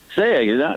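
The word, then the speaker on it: Sayegh: Is it Saya? Saya, not too bad, Eric. Listen, I've been practicing all morning thanks to YouTube. There you go. So listen, it's phonetically pronounced. Say egg. Say the word egg.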